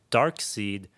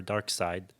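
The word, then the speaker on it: Darkseid: the big bad okay dark seed or dark side I've heard it pronounced both ways um he's like set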